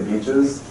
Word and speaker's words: BCHS: Because I can say beaches, which is the official pronunciation of BCHS.